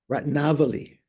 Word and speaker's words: Ratnavali: Ratnavali, correct pronunciation, by Nagarjuna.